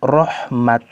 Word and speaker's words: رحمت: Ketika ditulis dengan tak maftuha atau tak marbuto, maka berhentinya dengan huruf ha, rahmah. Namun di beberapa ayat ditulis dengan bentuk tak maftuha, rahmat. Maka ketika berhenti dibaca dengan rahmat, bukan rahmah.